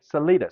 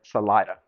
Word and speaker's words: Salida: The educated people wanted to say Salida, say it properly, particularly the newspaper editor. It was his cause. But the uneducated, the railroad workers, wanted Salida. And they actually called it S apostrophe Salida. They kind of let it roll.